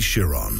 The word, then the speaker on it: Chiron: It's Chiron. It's not sh. It's not a sh sound.